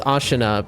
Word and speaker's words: Ashina: Now, it reads like Ashina, but I know it's Ashina because of how everyone pronounces it in the game.